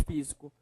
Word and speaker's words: físico: Próxima palavra é a palavra físico. Físico. Qual é a sílaba mais forte? Professor, é o fi.